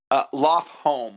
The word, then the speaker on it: Lofholm: Loftholm, home like house.